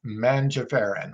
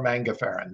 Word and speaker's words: mangiferin: polyphenol in mangoes and it's called mangiferon or mango ferren depending on how you want to pronounce it now this title of